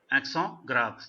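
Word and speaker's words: accent grave: एक्सों ग्राव, T silent है.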